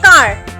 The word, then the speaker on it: car: For example, जैसे यहाँ पर लिखा है कार, CAR, कार, तो A के बाद R आ रहा है, यहाँ पर R हम हल्की सी आवाज़ निकालेंगे, कार।